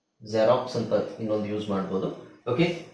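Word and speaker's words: Xerox: ಗೊತ್ತಿರೋದು ಎಲ್ಲರಿಗೂ ಗೊತ್ತಿರುವ ಪದ ಜೆರಾಕ್ಸ್ ಜೆರಾಕ್ಸ್ ಅಲ್ವಾ ಜೆರಾಕ್ಸ್ ಅದನ್ನ ನಾವು zಡ ಉಚ್ಚಾರಣೆ ಉಚ್ಚಾರಣೆ zಡ ಅಂತ ಹೇಳಬೇಕು ಬರಿಬೇಕಾದ್ರೆ x ಅಂತನೆ ಬರಬೇಕು ಪದದ ಸ್ಟಾರ್ಟಿಂಗ್ ಅಲ್ಲಿ ಬಂದ್ರೆ ಅಂತ ಹೇಳ್ತಾ ಇದೀನಿ ಆದರೆ ತಲೆ ಕೆಡಿಸಕೊಬೇಡಿ ಜಾಸ್ತಿ ವರ್ಡ್ಸ್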